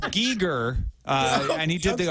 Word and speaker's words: Giger: you call me okay I think it's pronounced I think it's pronounced Giger uh and he did